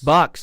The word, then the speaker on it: BYX: bait of some kind that is pronounced what B you see with books bucks there you go yeah